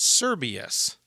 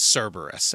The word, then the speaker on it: Cerberus: of Hades and I kept saying the word serbus the name of the dog is Cerberus and I felt compelled uh mainly because three